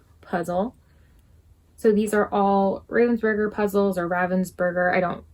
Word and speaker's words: Ravensburger: So these are all Ravensburger puzzles, or Ravensburger.